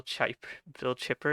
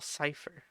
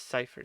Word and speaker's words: Cipher: And whatever Bill Chipper is. Sure. Whatever who's that? Bill Bill Cipher. I'm a human popsicle. Oh, the triangle guy from Gravity Falls. Also a good show. It's Cipher, Cipher.